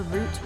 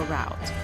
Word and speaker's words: route: Now before you ask, you can pronounce it either route or route, depending on your preference.